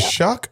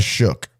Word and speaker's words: Shuck: Hey, I love Shuck. I love Shuck. How do you say his name? Is it Shuck or Shook? I say like he shuck oysters.